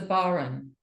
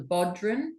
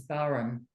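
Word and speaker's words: bodhrán: It's the Baron. A lot of people call it the Bodhran because it's spelled like Bodhran, B-O-D. Is it H-R-A-I-N? Yeah. Oh, But yes. I think the correct pronunciation is Baron.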